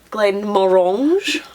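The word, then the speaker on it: Glenmorangie: frenchified one as well Glenn morange or Glenn this is another one you can use a fruit as reference it's orangey so it's Glen that's how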